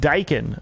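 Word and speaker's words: Daikin: Your mini split name brand is pronounced Dakin.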